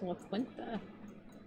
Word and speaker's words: La Quinta: I always thought it was La Quinta.